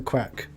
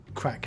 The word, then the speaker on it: craic: money Nylund it's also the craic like what did he just say what did he just say it's spelt differently if you could could you explain to our American listeners and viewers what crack actually means in oh